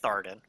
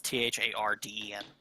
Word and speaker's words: Tharden: Yeah, it should be Tharden. I mispronounced it the first Tharden. time. Yeah, it's Tharden.